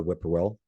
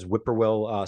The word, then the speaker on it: whippoorwill: Generally translated or represented as whippoorwill, some of our field guides will point out that middle sound or that middle syllable of pour, actually, if you listen carefully, you can hear two parts to it. So it's more like purr.